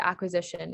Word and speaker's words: acquisition: So one thing to point out is the qua sound is spelled with the QU, like we just talked about earlier. Another thing to point out is that the shun sound in Latin is spelled with the TION, like TI in Latin